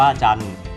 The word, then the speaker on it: จันทร์: เรือ การันต์ นะ ครับ จอ แน่ นอน ทร กะหล่ำ นะ อ่าน ว่า จำ นะ ครับ อ่า จำ อ่าน ว่า จันทร์ จันทร์ อ่าน ว่า จันทร์